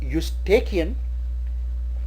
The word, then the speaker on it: Eustachian: The next word is Eustachian. Some call it Eustachian, and again starting with e but the pronunciation starts with u, so we call a Eustachian.